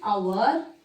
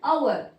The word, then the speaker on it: hour: If it is a silent, which is silent, then we have to use an hour.